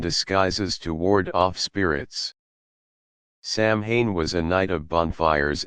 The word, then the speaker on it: Samhain: The origins of Halloween date back over 2,000 years to the ancient Celtic festival of Samhain, pronounced Samhain, celebrated on October 31st.